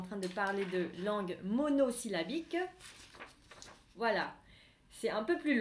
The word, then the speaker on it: monosyllabique: Không phải là monosyllabic. Monosyllabique. Monosyllabique. Monosyllabique.